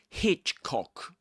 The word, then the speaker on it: Hitchcock: Hitchcock, you stress Hitch. Hitchcock film.